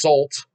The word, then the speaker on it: Salt: My band is Salt, pronounced Salt, so Salt like the salt shaker.